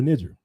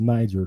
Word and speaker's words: Niger: ri of the river nijer It's called Uh it was pronounced back in the day. It's pronounced niger today.